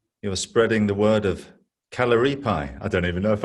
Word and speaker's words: Kalaripayattu: You're spreading the word of Kalaripayattu. I don't even know if I could say it properly. You said it right. Yeah, Kalaripayattu.